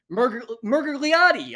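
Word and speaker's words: Miragliotta: Pronounce his fucking last name right, but I can't. Murgliati.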